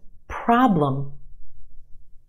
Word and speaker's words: problem: Another one, problem, problem. Two syllables in this word. Our first syllable is emphasized. The ah, problem, is stretched and emphasized in the first syllable. Our second syllable is where you have your schwa.